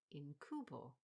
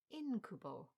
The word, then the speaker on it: incubo: mean Incubus I'd always read in my head as incubo never thought anything of it however I heard the detective in this novel say incubo and I thought hang on Amo yes I'd been saying it wrong all along should have gone with the same stress as Incubus anyway I'll leave a